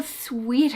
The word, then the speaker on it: suit: Còn cái từ này chúng ta đọc là suit. No choice but to found a suit. I got a suit out of the closet. It wasn't mine. It was too big. It looked weird. Đó, cái từ này chúng ta đọc là suit. Này là sweet. Suit.